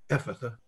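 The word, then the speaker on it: Ephphatha: Change the PHs to Fs and you'll never have trouble pronouncing it, except the accent is on the E, Ephatha.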